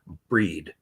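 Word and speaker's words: Bríd: and that is the time of breed breed we spell it as Bridget but breed one of the most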